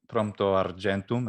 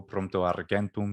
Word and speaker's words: Prompto Argentum: have prompto argentum absolutely prompto argentum ecclesiastico pronto argentum classical pronunciation which means ready prompt